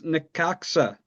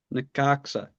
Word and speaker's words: Necaxa: gonna get this pronunciation right as we go to the next team. It's Necaxa. Necaxa.